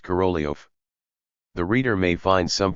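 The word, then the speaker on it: Korolev: Russian letter E is denoted by the English E, hence the transliteration corolaf, though it is pronounced corolio.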